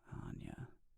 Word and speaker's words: Anya: I often have to tell people that my name has the Germanic, not the English one, Anya.